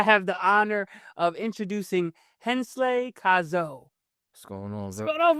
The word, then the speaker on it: Hansley: So Hansley, but it's spelled Hansley. Okay. So it looks like Hansley. Mm-hmm. So a lot of my friends might call me or something like that, or Hans, but it's Hansley.